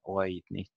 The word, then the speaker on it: oidnit: And oidnit has an I, and therefore it gets an accent on the A, oidnit, oidnan, when you say the perfect participle there.